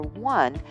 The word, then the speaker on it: one: Also, the number 1 is pronounced with the W sound of the consonant W.